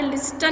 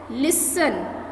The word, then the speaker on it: listen: ऐसे ही इसमें भी जो लिसन जो है उसमें टी की साउंड नहीं आती। ओके, इसको हमने कैसे बोलना है? लिसन।